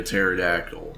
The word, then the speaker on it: pterodactyl: And then silent P like a pterodactyl.